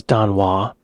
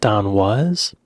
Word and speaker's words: Don Was: I thought his name was Don Wais, but he's pronouncing it Don was.